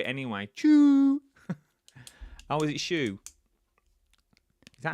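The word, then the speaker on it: choux: It's pronounced shoe.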